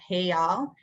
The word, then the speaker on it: real: Brazil currency is called the real, pronounced real.